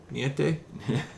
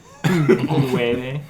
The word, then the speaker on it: nueve: Niete? Nueve.